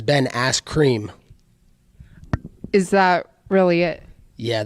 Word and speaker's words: Askren: So Ben Askren, he has a fight coming up with Jorge. How do you see that fight going? Oh, you said his name backwards. You said it wrong. It's Ben Askren.